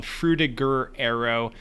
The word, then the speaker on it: Frutiger Aero: I think we settled on Frutiger Aero. I was debating whether it was like Frutiger or something like that, but we're going with Frutiger Aero.